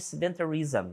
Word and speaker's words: sedentarism: Vamos ver a primeira definição de sedentarism. Olha só. Sedentarismo, então, né? Sedentarism, final zm, né? Ele tem essa pronúncia, esse SM aqui.